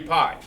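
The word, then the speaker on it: π: but I'm talking about pie see this symbol right here this symbol right here that's spelled p i pi we call it Pi but over there they call it P well it just has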